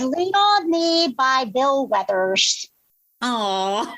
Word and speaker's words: Withers: It is "Lean on Me" by Bill Withers. Oh, is it Weathers or Withers? How do you pronounce his last name? I'd say Withers.